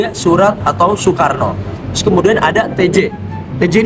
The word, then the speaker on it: Soekarno: Terus kemudian ada OE ya, sebagaimana yang tadi di awal video, Soe Karno atau Soerat itu dibaca buat huruf U. Jadi ya, Surat atau Soekarno.